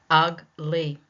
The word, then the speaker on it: ugly: So just from that first rule we talked about, if it is a noun or an adjective, two-syllable word, it will be placed on the first syllable.